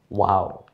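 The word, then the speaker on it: واو: ওয়াও বলার সময় মুখটা একটু গোল হবে, ওয়াও, ঠোঁট দুইটা গোল হয়ে যায়, ওয়াও।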